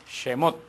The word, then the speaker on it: Shemot: lexus y algunos recuerdan cómo se dice éxodo en en hebreo jemmott semos se recuerda y que